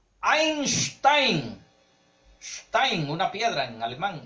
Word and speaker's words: Einstein: Einstein, pues lo pronunciamos como si fuera norteamericano, pero es Albert Einstein.